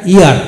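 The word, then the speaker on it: heir: এখন আসুন এইচ ই আই আর ইয়ার, অর্থাৎ ই আই আর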